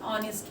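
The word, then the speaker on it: honest: सेनें एच है एच एच जो है यहां पे साइलेंट है साइलेंट मतलब इसकी आवाज नहीं आ रही है हम क्या पढ़ेंगे ऑनेस्ट पढ़ेंगे ऑनेस्ट नेस्ट मतलब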